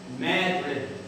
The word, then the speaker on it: Madrid: We know that it's Madrid, Spain, but up here in St. Lawrence they pronounce it Madrid.